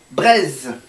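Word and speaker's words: Breizh: la bretagne est sûre ça se prononce braises en breton brp yz hbr ei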